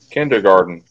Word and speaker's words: kindergarten: Kindergarten. When you say it, it sounds like garden, like growing crops and stuff.